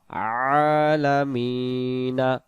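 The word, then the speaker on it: العالمين: নুন জবর না আলামিনা দম ছেড়ে দেওয়ার জায়গাতে যদি জবর জের পেশ পাওয়া যায় জবরটাকে মনে মনে একটা সাকিন ধরে নিয়ে উচ্চারণ করতে হবে যেমন আমরা উচ্চারণ করবো আলামিন এবং টান দিয়ে দমটা ছেড়ে দিতে হবে যদি আমি পড়ি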